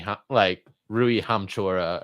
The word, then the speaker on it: Hachimura: me a KCP over a Dennis Schroeder, Rui Hachimura, or how do you say that?